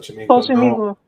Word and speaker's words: Xochimilco: Xochimilco.